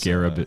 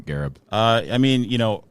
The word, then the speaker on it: Gharib: That kind of, and it's Gharib, not Gharib. I remember the correct pronunciation is Gharib, but even my dad, he says it's Gharib. It's Gharib. It's Gharib calling him like, say it right, Dad.